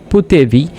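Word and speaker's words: potevi: তো ফুতেবি আন্দারে মানে হচ্ছে তুমি যেতে পেরেছিলে, তুমি খেয়েছিলে, দেখেছিলে, শুনেছিলে, বলেছিলে এইরকম যখন বলবো তখন পুতেবি উচ্চারণ করতে হবে।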